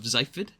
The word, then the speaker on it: Xyphid: So, today's inspiration comes from a channel by the name of Zyford. X Y P HI D. I I think that's how it's pronounced.